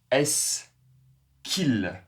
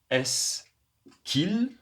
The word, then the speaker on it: est-ce qu'il: Est-ce qu'il est-ce qu'elle est-ce qu'il est-ce qu'elle Alors la prononciation bien sûr, le dernier S n'est pas à prononcer.